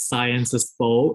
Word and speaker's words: Sciences Po: I actually pronounced it as Sciences Po, even when I was already admitted that it was actually Sciences Po, and I was very grateful.